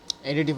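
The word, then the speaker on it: additive: एडिटिव होगा। एडिटेटिव नहीं होगा। एडिटिव होगा।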